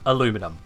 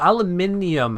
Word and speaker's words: aluminium: came from we must have the traditional also aluminum you want to tell me that's not meant to be simplifying it for some people like oh aluminium has too many syllables aluminum yeah come on